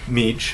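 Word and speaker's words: Mech: David Meech it's pronounced it's spelled mich he was doing research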